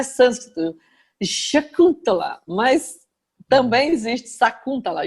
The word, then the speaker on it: Sacuntala: A pronúncia é Sakuntala. E tem também Shakuntala.